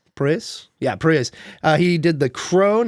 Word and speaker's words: Proyas: I think that's how you pronounce that. I think it's Proyas. Proyas? Yeah, Proyas.